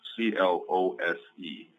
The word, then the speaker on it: clothes: many Americans say clothes c l o s e instead of clothes so you can get away with saying close as in close the door instead of saying clothes okay that's up to